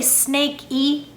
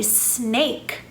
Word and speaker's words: snake: e at the end we don't say snake e or snake e we say snake notice that the a makes a long vowel sound it says a so